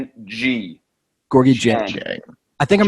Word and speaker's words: Dieng: Gorgui dying. Gorgui dying. So that's not how you pronounce Gorgui Dieng? I believe it is Gorgui Dieng. Yeah. DJ Dieng. It's like I looked it up. It's Jyeng.